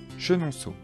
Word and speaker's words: Chenonceau: château de chambord blois le château de blois chenonceau le château de chenonceau amboise le château d'amboise